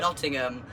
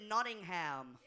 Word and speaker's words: Nottingham: Did the Americans you heard today pronounce it Nottingham? Not Nottingham, Nottingham.